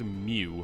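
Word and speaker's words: μ: not sure what like apparently it's pronounced mu like mu an upside down U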